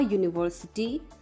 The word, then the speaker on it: university: For example, a university because it starts with a Y sound.